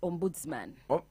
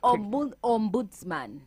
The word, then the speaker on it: ombudsman: are dealing issues of corruption called busman yes Ombudsman pronounce it well like Ombudsman take me slow OMS yeah Bo om boots